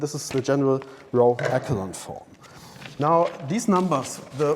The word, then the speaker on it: echelon: this up on the break it's not called echelon this word is pronounced echelon so it's a row echelon form not the